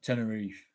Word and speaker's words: Tenerife: No, how the Spanish pronounce it. Tenerife.